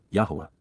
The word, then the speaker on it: Yahweh: having compassion peel infinitive for children Alim yah Yahweh the proper pronunciation of the name of eloha God as